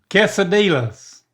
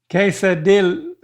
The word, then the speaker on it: quesadilla: you to say is D-I-Y-A-S. Say that. D-I-Y-A-S. Dillas. No L's. Don't say L's. Don't even look at those L's. There's no L's there. It's a Y. Dallas. You're still saying L's. D-I-Y-A-S. What's the opposite of no?